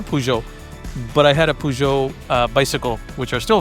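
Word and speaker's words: Peugeot: pujo, but the word it's not puget. It's not puette, it's pujo. Uh, and again the the reason why uh I know that is because I had a pujo, but I had a pujo uh bicycle which are still very very famous.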